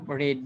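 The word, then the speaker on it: read: তাহলে আমি বই পড়িয়ে আছি, আই হ্যাভ রেড বুক। তো রিড, রেড এভাবে বলতে হয় একটু, কারণ যেহেতু লিখার ফর্মটা এক কিন্তু উচ্চারণটা একটু আলাদা হবে।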